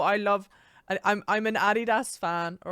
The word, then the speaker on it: Adidas: comfortable so comfortable I love I'm I'm an Adidas fan all right the I I don't know